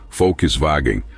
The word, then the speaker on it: Volkswagen: Sedan no entanto a dificuldade em pronunciar a palavra alemã Volkswagen como folkswagen ou sua sigla VW